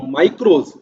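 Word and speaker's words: μικρός: Micro एक Greek word है था जिसको प्रोनाउंस किया जाता था माइक्रोस, विच मीन्स स्मॉल और ए मिलियंथ पार्ट, छोटा हिस्सा।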